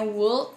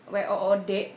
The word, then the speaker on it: Would: Bukannya Wool, tapi Wood, W-O-O-D, ya bacanya Wood.